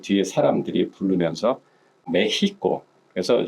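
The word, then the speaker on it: México: 그 뒤에 사람들이 부르면서 메히코 그래서 실제로 스페인어로 멕시코를 할 때는 멕시코라는 말보다는 메히코라는 말을 많이 씁니다.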